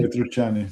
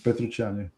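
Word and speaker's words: Petrucciani: Um Patr- How do you pronounce his last name? It's like Patrucciani? Patrucciani. Patrucciani.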